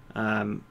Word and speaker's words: Mykolenko: Mykolenko, that's how you pronounce it.